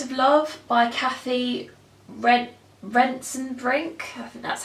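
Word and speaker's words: Rentzenbrink: the last act of love by Cathy rent rents and brink and that's how you pronounce that I read this last year at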